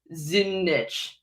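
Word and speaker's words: Zdunich: His name is Terence Zunich. Zunich. There's a silent letter somewhere in there. Zunich. I think it's the D. I think the D is silent.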